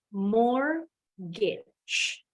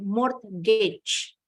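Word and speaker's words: mortgage: dalam kalimat and then more gets more Gates huruf t nya silent bacanya bukan more Gates jadi nggak kedengeran ya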